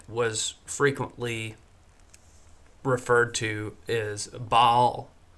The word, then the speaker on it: Baal: But the other god that was frequently referred to is Baal. I know some people call him Baal. I don't think that's right. I think it's supposed to be pronounced Baal, Baal.